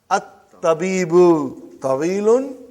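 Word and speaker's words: الطَّبِيبُ: are putting saying one we did not pronounce hamza why you did not pronounce hamza you pronounce hamza in the beginning you pronounce and now you are not pronouncing it why because they are russell it it comes in the beginning of the sentence you pronounce it and then if something comes in front of it you don't pronounce do you follow you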